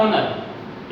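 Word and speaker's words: honour: उसके ठीक नहीं चलेगा हा ओ एन ओ यू इसका प्रनंसीएशन इसका उच्चारण भी होता है ओनर इसका मतलब होता है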